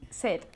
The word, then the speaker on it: said: Yesterday he said. Yesterday He said. he said. Remember that sound of the past of the verb to say. Said. Como tener sed.